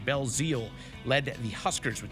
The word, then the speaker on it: Belzile: Florence Belzile, on that pronunciation, Belzile led the Huskers with 2 goals in the